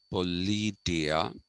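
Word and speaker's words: politeia: this term called politia that is how it is pronounced okay it is pronounced politia and what does politia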